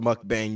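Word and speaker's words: mukbang: are we watching evang it's actually pronounced Muk bang you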